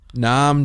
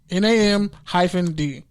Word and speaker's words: Nnamdi: Say Nam. Nnamdi. Like Vietnam. Think of Vietnam. Nnamdi. Nnamdi. Nam-D.